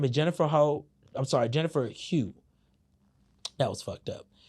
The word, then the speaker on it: Hough: Her name is Jennifer Hugh. That was fucked up. It's spelled like, if y'all look how it's spelled, Hough or whatever, my bad, I fucked that up. But Jennifer Hugh, I want to say, she did an interview.